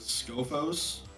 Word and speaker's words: Skophos: I'll play Labyrinth of Skophos.